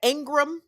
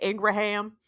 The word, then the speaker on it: Ingram: So big up to the kids at Ingram High School. I know I said Ingraham because I'm country and I'm going to pronounce the whole word.